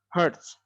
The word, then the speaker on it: hertz: Dilambangkan dengan H dan Z. Dibacanya hertz.